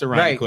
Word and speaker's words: Irondequoit: How are you going to entice people to move into West Irondequoit? Now, let me ask you can't. Well, hold on. See, you just literally messed up. So you said West Irondequoit.